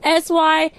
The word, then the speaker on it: Syarin: How can I pronounce her name? Syarni or Syarin? Syarin? Syarin? Okay, Syareen. Hello.